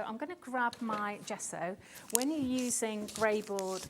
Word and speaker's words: gesso: this is the G so good gesso say it like that g so good I actually um use